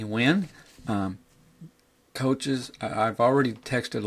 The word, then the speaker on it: Nguyen: impressed me was Anthony Wynn. Now his name is spelled Nguyen, Anthony Wynn.